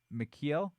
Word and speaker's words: Mikheil: do it oh sorry it's not Michael it's Mikheil Mikey uh sorry if I